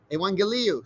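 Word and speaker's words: εὐαγγέλιον: and then you have two gammas which probably you encounter in in math classes uh usually sounds like a g but when they're back to back the first gamma is actually softened into an n all right so gamma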